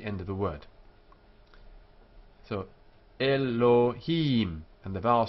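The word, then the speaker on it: אֱלֹהִים: here e here Elohim it's not o as in note um that is the Eastern European pronunciation not the Spanish and Portuguese it's Elohim the accent here with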